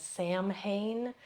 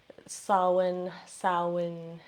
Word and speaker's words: Samhain: actually is pronounced as the M and the H in Gaelic is pronounced as a W, so this is actually more Samhain, something like that.